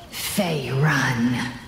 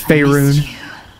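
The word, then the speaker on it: Faerûn: Fey Run. pronounced it wrong. It's Faerun.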